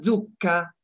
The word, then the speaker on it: zucca: Torta alla zucca, molto buona. La torta alla zucca, come vedete qui, is a very good dessert. Make sure you pronounce the double C for pumpkin in Italian.